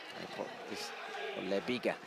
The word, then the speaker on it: Leiga: from Junior Moray leig leiga is the correct pronunciation to the U steel prison